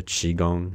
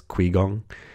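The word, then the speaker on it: qigong: Wudang I referred to Qi Gong as "Qui" Gong just because in English every Q, there's always a U sound after and so I just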